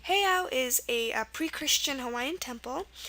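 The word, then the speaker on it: heiau: for that it's pronounced heo it's h e i a u and here an EI is used for the a sound so this is the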